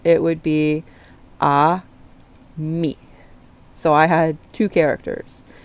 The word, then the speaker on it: Aimee: Um my professor tried to go and I'm like no based on pronunciations it would be a me.